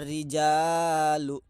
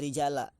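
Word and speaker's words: رجالُ: Contoh, ja'a rijalu. Seperti itu. Rijalu dibacanya, enggak rijali, enggak rijala. Karena jamak taksir rofanya pakai doma.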